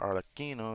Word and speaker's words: Arlecchino: We know Frina already talked to Arlecchino or Arlecchino. That's how you're actually supposed to say her name.